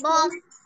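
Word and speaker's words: bomb: বম বলবো না ইয়েস বম মানে বি উচ্চারণ হবে কি হবে না হবে না মিস হবে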